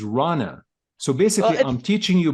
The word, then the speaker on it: Rana: Just so you know, Shadi, you call Rana Reina, and it's not Reina. Her pronunciation is Rana.